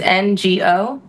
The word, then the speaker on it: Ngo: The G is silent, so it's NGO.